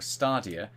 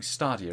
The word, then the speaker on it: Stadia: So moving on, Resident Evil Village is coming to Stadia or Stadia. I always pronounce it wrong. Stadia, isn't it? Yeah, Stadia. I say Stadia. I say Stadia, but it's Stadia, and I always get pulled up.